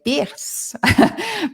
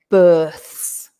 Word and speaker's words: births: They see the IR and they want to say births. But in English, remember, the pronunciation is births, right?